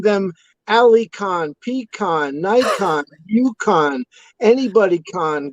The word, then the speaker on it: Cahan: the spelling of the name and they say Cahan or they say Cahan before they say, what it is. I think the original pronunciation, I think, was Cahan, or like you said, Cahan.